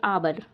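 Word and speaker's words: hour: इसको हावर नहीं पढ़ते, इसको हावर नहीं पढ़ेंगे हम, हावर गलत हो जाएगा, क्योंकि इसमें एच साइलेंट है। क्या है इसमें? एच इसमें साइलेंट है, तो बच्चों इसको हम पढ़ेंगे आबर। एच साइलेंट है, एच हम नहीं पढ़ेंगे, एच लिखा हुआ है।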